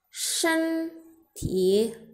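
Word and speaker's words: 身体: Nah, cara membacanya sesuai dengan nada, ini adalah nada 1, ini dan nada 3. Kita bacanya shen ti.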